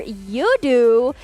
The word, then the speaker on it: Yoodo: And of course, we cannot forget our official digital telco partner, Yoodo. Yeah, Yoodo. You do you. No, I'm just kidding. Yoodo. Well, that rhymes. It rhymes, right?